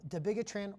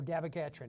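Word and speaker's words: dabigatran: used with it now debitran or dabagatrin it can be pronounc annunciated either way idakismab Like I said,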